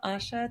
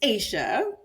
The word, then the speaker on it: Asia: Asha take it away so it's Asia but it's okay you know that usually that's the funniest thing I asked before I start I was like how do you say your name but okay you said it the way it looks so it's fine so